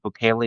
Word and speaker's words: Bukele: Why is it Bukele? Is that how you pronounce it? That's how I'm pronouncing it.